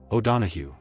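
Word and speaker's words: O'Donohue: O donahu. Memory trick. The end is hu not goo. Think donahu.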